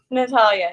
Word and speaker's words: Natalia: This is Natalie. Am I saying it right? Natalia, yeah. Yeah. I said Nat.